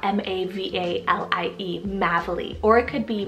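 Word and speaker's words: Mavalie: meaning pathway then I have madeley spell m-a-v-a-l-i-e madeley or it could be maybelly as well this one was a gorgeous one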